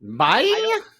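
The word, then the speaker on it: Bai: It's spelled B-A-I. Bye. Never known how to pronounce it, so I just pronounced it bleh. According to the Justin Timberlake commercial, it's bye. Okay, much bye.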